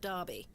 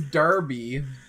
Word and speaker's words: Derby: Pace I okay so why is Derby spelled with an e and pronounced with an a and bu is